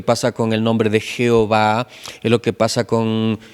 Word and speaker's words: Jehová: ¿De dónde añadieron las vocales? Pues de la palabra Adonay, donde salen dos términos. El primero que es Yahweé y el segundo es que es Jehová, ¿no?